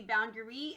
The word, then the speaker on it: boundary: word boundary my friends this sounds kind of strange and that's because this is just an irregular sound in this word it sounds slightly irregular instead of ah or r it's going to be boundary and remember that we